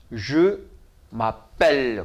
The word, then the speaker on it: je m'appelle: 그리고 여기는 그러니까 아펠르 뒤에 오는 끝에 나오는 에자는 발음이 없고 아펠르 그렇죠? 근데 그 앞에 M이 왔어요. 그러니까 어떻게 돼요? M하고 아하고 오니까 마가 되겠죠? 그래서 je m'appelle 그래요.